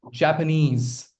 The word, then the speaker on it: Japanese: Referee and Japanese Chinese. There are other syllable syllabic words like two syllabic words also where you know the stress lies on ease at the end.